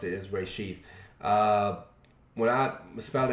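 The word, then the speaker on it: reshit: where she rasheed he might pronounce it as rishi i pronounced his rasheed because the way i was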